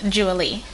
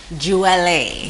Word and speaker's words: Jewele: My name is pronounced Jewele. Okay, so for the record, it's Jewele.